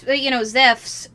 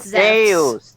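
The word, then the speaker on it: Ζεύς: Zeus, Zephs, by the way, Calon, if you want ancient pronunciations, is Zephs. Deus. No, in ancient Greek, it is Zephs.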